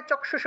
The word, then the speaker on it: চক্ষুষে: এখানে ক্ষীয় ছিল, ক্ষীয় আছে, ক্ষীয় থাকায় চক্ষুষে উচ্চারণ হবে।